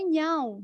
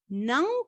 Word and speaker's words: não: aquela possibilidade de que a pronúncia não é nhau, não é now, senão exatamente o não em espanhol.